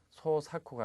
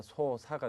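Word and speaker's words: 操作: 자, 조작도 발음에 주의를 하셔야 됩니다. 소사쿠가 아니라 소사가 되겠죠.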